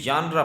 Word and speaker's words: genre: جو ہے نا جی، اس میں پہلا لفظ ہی سائلنٹ ہے جی کا، تو یہ ژانرا پڑھا جاتا ہے، کیونکہ انگلش کی جو